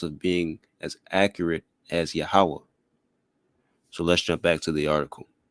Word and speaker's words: Yahawah: A lot of us in Israel, a common pronunciation that we may hear, aside from Yahawah, is the pronunciation of Yahuwah.